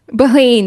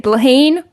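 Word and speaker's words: Bláithín: I think it's going to be either Blathan. I really still don't know how to pronounce her name. Bogue. Blaheen, that's it. Blaheen, Bogue, or Erica O'Shea.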